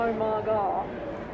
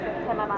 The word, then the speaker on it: Omaga: Because I sort of go Omaga. Well, the intention was so that it's basically like a different kind of a shortcut for like oh my god.